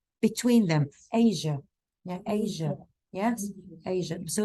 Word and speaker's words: Asia: Can you please pronounce the word or the name Asia? So it's not, you tend to emphasize on the sh sound. It's not sh. It's a mixture in between j and sh, between them. Asia.